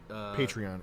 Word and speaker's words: Patreon: I say it wrong because it's Patron. So, it should be Patreon.